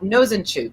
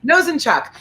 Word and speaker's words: Nosanchuk: by jacob as well as by matt not nozanchuk nazenchuk how do you say your last name nosenchuck who is the head of the new york